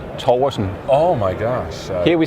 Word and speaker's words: Torgersen: I'm Danish, and in Danish it's Torgersen. Oh my gosh. Here we say Torgersen.